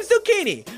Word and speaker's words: Zucchini: Great, I'm Zucchini, rhymes with Houdini.